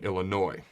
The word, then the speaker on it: Illinois: the illini in champaign illinois where the s is silent all right so these